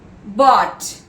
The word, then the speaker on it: bought: Next word, bought, B-O-U-G-H-T, where the G is silent.